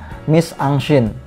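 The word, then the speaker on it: mise-en-scène: atau kita bacanya ini adaptasi dari bahasa Perancis kita membacanya yaitu My Sunshine and itu jadi Ang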